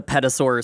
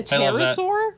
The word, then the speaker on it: pterosaur: with that, it's a petasaur swoop. That's beautiful. You mean a pterosaur? Is that how you pronounce that? Yeah, you don't pronounce the P.